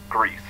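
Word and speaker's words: Gris: g r i s which is Spanish for gray so I believe it's pronounced Greece um and it's just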